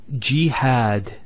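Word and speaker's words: جهاد: Next word is jihad. So we have here g, that's the first syllable, and then had, jihad.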